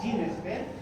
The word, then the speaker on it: GeneXpert: Por tanto, ese examen que se conoce como KEN-EXPERT, que se pronuncia como GeneXpert, es un examen que también sirve para detectar tuberculosis.